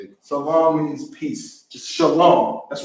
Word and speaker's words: salam: Salam.